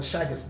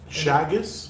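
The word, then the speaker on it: Chagas: comes to mind is what we call a shaggis disease shaggis yes how do you spell that so that's a c h a g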